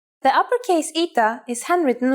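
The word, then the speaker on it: ήτα: Our first letter is a vowel, Ita, which makes an E sound.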